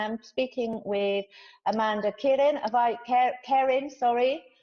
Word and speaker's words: Kerin: Kerin, sorry. Have I pronounced that right, Amanda? Yes, yeah, you have, Kerin.